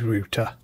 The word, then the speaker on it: router: GWN 7003 router, or if you're based in the US, you probably call it router, but in this video, I'll refer to it as we pronounce it here in the UK, which is router, just to avoid any confusion, that is.